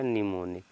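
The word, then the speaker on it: mnemonic: एम एन लिखा है एम एन का मतलब है एम साइलेंट हो जाएगा इसको पढ़ेंगे निमोनिक्स क्या पढ़ेंगे बच्चों निमोनिक्स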